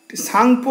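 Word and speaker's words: Tsangpo: তো দেখুন, আমাদের বসু মৌলিকের ভূগোল বইতে লেখা আছে, ব্রহ্মপুত্র নদীটি তিব্বতের মানস সরোবরের নিকটবর্তী চোমায়ুংদুং হিমবাহ থেকে সাংপো নামে, এটা টিটা এখানে সাইলেন্ট, এই যে এখানটা লেখা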